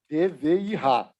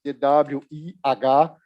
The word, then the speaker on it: DWIH: Research and Innovation henceforth, not only by its acronym in German, but also with a German pronunciation, DVIH, because spelling it in Portuguese, DWIH, or even in English, DWIH, it's not easier.